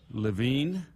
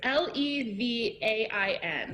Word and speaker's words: Levain: So it's there's a bakery in New York, Levine. Is that how I said that? Did I say that correctly? It's Levain. Yeah.